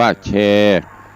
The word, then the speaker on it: แชร์: ก็ เมตตา ได้ กด แชร์ สระ เอ ซอ สร้าง สระ เอ ช ช้าง ร เรือ การันต์ อ่าน ว่า แชร์ เอา นิ้ว งาม ๆ